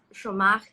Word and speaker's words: Giomar: My middle name is Chomar, which is Portuguese, but it's spelled Giomar.